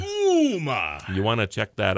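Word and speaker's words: Ooma: Not Uma, like that, Uma Thurman. Right. It's Uma. Uma. O-O-M-A. It's so like Uma.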